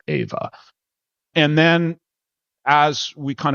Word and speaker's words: EHVA: She pronounced it Ava. And in order to trick her into pronouncing it correctly, we changed the spelling to more of like a phonetic spelling, EHVA, and that successfully tricked her into pronouncing it the way that we wanted to, EHVA.